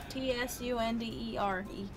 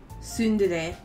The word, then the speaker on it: tsundere: I actually don't know how to pronounce that word, Katie. Which word? T-S-U-N-D-E-R-E. Tsundere.